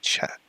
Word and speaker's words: chat: Don't pronounce the T, like chat.